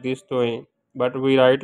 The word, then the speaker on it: Toeen: In Urdu, we pronunciate like this, Toeen, but we write like this, Toeen. So this is, or in Arabic, we call it Toa, okay? But in Urdu, we call it Toeen.